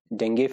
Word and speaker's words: dengue: These are dengue fever, right? I'm saying this dengue because I think that's the right pronunciation, dengue, not dengue. We usually say dengue, right? But the correct pronunciation is dengue fever, right?